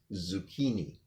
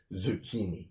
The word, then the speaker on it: zucchini: Again, the first C is kind of silent, but the CH before an I or an E in Italian is a K sound. So these type of noodles are zucchini. Yeah. Oh no, this vegetable is zucchini.